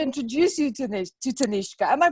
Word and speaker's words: Tanishka: I'd love to introduce you to this to tanishka am i pronouncing your name right yes thank you and